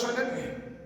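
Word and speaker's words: شين: তার গজরানিটা আমি করছি, ভালো করে শোনেন কেমন। সকলে করেন। এই আওয়াজটার সময় জিভের সাথে দাঁতের সাথে কোনো সম্পর্ক থাকবে না, জিভের মাঝখানটা উপরের তালুতে নিয়ে লেগে যাবে। সকলে করেন। ওইখান থেকে অক্ষরটা উচ্চারণ হবে, শোনেন।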